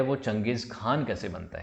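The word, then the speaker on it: चंगेज़ ख़ान: से जानने लगे हैं और आज हम चंगेज़ खान को ईपीएस jiomusic खान की तरह ही पड़ते हैं इसको चंगेज खान पढ़ा जाता है तो यह चीज है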